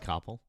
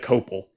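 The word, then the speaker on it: Koppel: uh CoppP was it was it uh Coppel? Yeah, Ted CppP right? I said Copel in the video and I I said his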